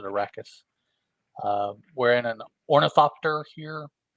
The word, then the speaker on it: Arrakis: All right, so we start off with we're on Arrakis, or Ericus. I pronounce it Arrakis.